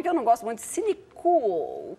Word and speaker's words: Cinecool: não gosto muito, Cinecool, cool no sentido de cool, né, É que em inglês, né, C-O-O-L, é que em português fica sempre uma coisa meio esquisita. Esse L é importante na pronúncia, né? Talvez seja o caso de acentuar o L do final, para evitar mal-entendidos.